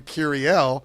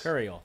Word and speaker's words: Curiel: Bill what is it because the pronunciation guys has Capital C capital u capital r r C should be c i e l e l yes cuel he said it was cuel that's what it is it could be Cel